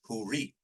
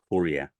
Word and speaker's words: Hurriye: The Turkish word is Huri, the most common form of her name. The Persian pronunciation is Hori, but the Arabic original is Hurriye.